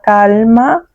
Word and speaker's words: calma: Es importante mantener la calma en situaciones difíciles. Então, vai lá. Calma, calma, calma. Entendeu? Calma. A L é bem pronunciada, gente.